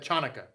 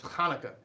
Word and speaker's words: Hanukkah: transliteration then you would you would pronounce hanukkah chanukah okay but it's not chanaka it's hanukkah yeah so now we'll